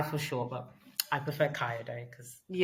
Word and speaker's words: Kayode: So it's pronounced K. Ka day. Okay. Ky. Yeah. Somebody called him Kai for sure, but I prefer Kaio day cuz Yeah, that's his name.